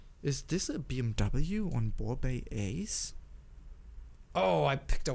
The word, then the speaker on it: Borbet: It's the Borbet or Borbet, I don't know how to pronounce that. it's Borbet.